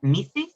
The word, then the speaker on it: Mrs: do you pronounce this it's missus or mrs yeah if it's ms then it's miss uh okay so but